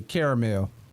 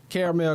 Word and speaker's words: caramel: She pronounced it, you know, I'm from the South, so I say caramel. Caramel craze.